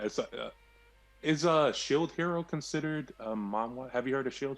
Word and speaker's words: manhwa: I mean, Mawe yes. or what is? Yes, actually, Mawe, or I'm saying it wrong because it's manhwa.